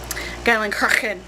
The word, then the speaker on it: Geilenkirchen: Basically, if there's any hard CH sounds, you kind of have to say them in the back of your throat. It's very guttural.